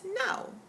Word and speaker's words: Nao: First, we meet a character, a Japanese girl named Nao, N-A-O, but in English pronounced now.